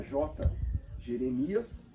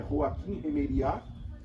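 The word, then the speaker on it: Joachim Jeremias: Abrasileirado fica J. Jeremias, mas J. Jeremias, foi um teólogo alemão chamado J. Jeremias, fica meio estranho, né? A pronúncia correta é Joachim Remeriat, é um teólogo alemão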